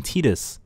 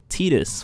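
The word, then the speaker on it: Tidus: from my old past games Final Fantasy 10 teetus that's how you say his name it's not titus apparently teetus we have a you know we have a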